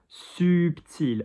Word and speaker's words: subtil: Subtil, notice the L, I-L, although I said you don't pronounce consonants at the end of the word. L is one of the ones that you do. So blush subtil.